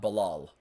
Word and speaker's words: Bilal: It is Bilal. It's not Bilal. It's Bilal. In Arabic, it's Bilal. That's how it is, and it's an Arab name, so you would pronounce it in Arabic that way.